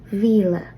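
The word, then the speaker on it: mhíle: And again, notice that after 1 through 6, the word for thousand, Mila, will be lenited to Vila.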